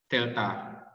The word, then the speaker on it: Delta: Aku lihatnya AL. No. Delta. It's Greek. It's Greek alphabet.